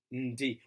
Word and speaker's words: ndi: Ndi, remembering again, don't pronounce it as N-D, but rather as ndi, I am.